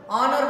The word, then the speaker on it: honor: H is not pronounced. H is silent.